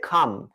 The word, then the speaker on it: calm: They calmed, সেই উন্মত্ত জনতাকে, জনতা একটু শান্ত হয়েছিল, তারা calmed, CALMED, calm, দেখো এই যে ওয়ার্ডটা CALM, কিন্তু এই এলটার উচ্চারণ হবে না, ওকে?